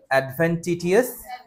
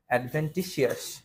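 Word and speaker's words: adventitious: বলো object, অ্যামালগেমেট, অ্যাক্লাইমেট, abrasive, abjure, aggregate, অ্যাডভেন্টিটিয়াস, বা এটা উচ্চারণ অ্যাডভেন্টিসিয়াসও হয়। হ্যাঁ, অ্যাডভেন্টিসিয়াস, এটাই উচ্চারণ একদম কারেক্ট উচ্চারণ, অ্যাডভেন্টিসিয়াস।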